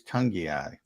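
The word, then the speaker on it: Togiai: It is Tungiai.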